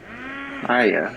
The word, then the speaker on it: Taya: Taya, that's how you say her name.